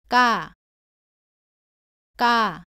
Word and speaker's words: 까: 발음은 가와 비슷한데 조금 더 세게 발음합니다. 목에 힘을 주고 발음하고요. 공기가 나오지 않도록 발음합니다. 따라해 보세요. 까, 까.